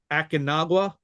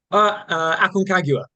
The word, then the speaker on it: Aconcagua: in Akinagua? Aconcagua. Yeah, yeah. Aconcagua. Close enough.